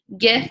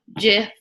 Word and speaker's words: GIF: Donnie's saying GIF, like the peanut butter.